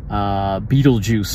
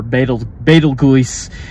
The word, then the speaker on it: Betelgeuse: place, literally amongst the stars, literally the star Betelgeuse, or Betelgeuse, as depending on how you pronounce it, there are other ways I've heard